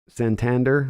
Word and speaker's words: Santander: back two and two Santander like the city in Spain am I mispronouncing it